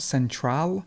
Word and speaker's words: central: celebrity celebrity central central again there's a schwa right here so it's not central but it's central central and ceremony and this